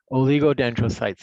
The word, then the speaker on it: oligodendrocytes: And that's how you pronounce those words: astrocyte, microglia, ependymal cells, oligodendrocytes, and Schwann cells.